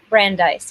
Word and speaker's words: Brandeis: career at i want to make sure i pronounce it right brandies university brandeis yeah brandeis university i i'll mention the club